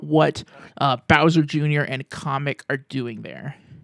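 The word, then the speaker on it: Kamek: was shown to be in there and Kamic um the blue wizard guy. I always thought it was pronounced kamic, but in the trailer they pronounced it comic.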